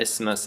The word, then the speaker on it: isthmus: of land big piece of land and the isthmus is a narrow piece of land that connects